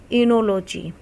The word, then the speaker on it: oenology: इनोलॉजी। तो इसमें ओ आपका क्या है? साइलेंट है, तो आप स्पेलिंग देख सकते हो, OENOLOGY।